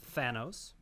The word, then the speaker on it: Thanos: It's Thanos.